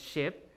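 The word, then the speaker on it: scip: The second word, ship, SC is pronounced SH, right? In Old English, ship.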